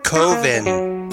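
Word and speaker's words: Coven: it's pronounced kovin Kevin sounds like heaven and Jesus told me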